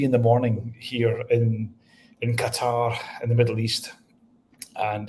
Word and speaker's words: Qatar: I've heard that name pronounced. What's the official? How do you say that where you're at? Is it? It's Qatar. Qatar.